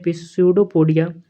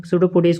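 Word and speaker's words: pseudopodia: ना उसको बोलते हैं पिसोडोपोडिया पे साइलेंट होता है इसमें पीस लिखा था। लेकिन हम सूडोपोडिस को पढ़ते हैं।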